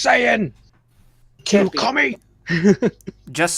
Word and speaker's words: Saiyan: Saiyan. It's pronounced Saiyan.